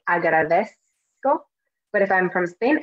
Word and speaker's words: agradezco: likely I'm gonna say agradezco. But if I'm from Spain, I'd say agradezco. Okay, so it's a different pronunciation. Me, I say agradezco with the S sound, okay?